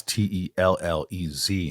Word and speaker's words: Tellez: That's Tellez, in case anyone was wondering. That's right. Yeah, 2 L's on that. 2 L's, pronounced Tellez.